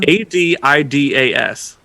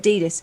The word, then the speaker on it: Adidas: ADIDAS.